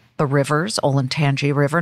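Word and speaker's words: Olentangy: all of that and i learned how to pronounce things like the rivers olin tangi river not olin tanki sayoda not scioto river and i walked into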